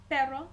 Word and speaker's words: pero: little bit longer um there is a difference between saying and erre for instance we have two words look similar except one has the single R the other one has the double r the first word perro pero meaning but if I want to